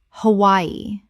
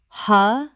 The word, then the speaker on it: Hawaii: Hawaii. Correct pronunciation. Ha-Y-E. 3 syllables with the W making a Y sound.